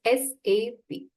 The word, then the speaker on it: SAP: So SAP uh is um is not a word but pronounced as a individual letters SAP.